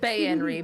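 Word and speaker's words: Baenre: Bayenry.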